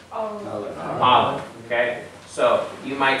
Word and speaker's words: Aleph: Think of the sound in the back of your throat you're making. This guttural sound is basically, it's making a sound in that Aleph in the back of the throat. It's not in the front of the mouth, it's in the back.